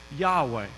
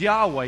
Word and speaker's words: Yahweh: that you and I would pronounce as Yahweh but ancient Hebrew only have consonants there were no vows and so it would actually look like this so just before letters YH wh it's Yahweh Yahweh means I am or